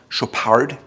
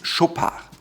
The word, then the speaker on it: Chopard: Chopard is without the D at the end. It's not Chopard or Chopard, it's Chopard.